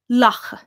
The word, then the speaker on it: lacha: And the most common word for duck is lacha. And that's spelled L-A-C-H-A, lacha.